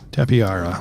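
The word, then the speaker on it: Tapejara: for some rare flowers tapiara yeah that's probably the better way to pronounce it I've heard it pronounced so many different ways but I believe you are seeing it the proper way tapiara I think the J is an H close enough anyway I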